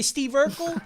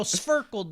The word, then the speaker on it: Sverkel: They say Steve Urkel. I say no, Sverkel, dude.